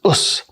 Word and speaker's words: Osu: And that contraction right which is pronounced as us is a term that means I'm going to do my best.